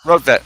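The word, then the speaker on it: Rortvedt: Is it Roadvet? Is that his name? Right, Roadvet, yes.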